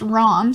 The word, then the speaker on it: Rahm: So Chicago mayor, and I think it's pronounced Rahm.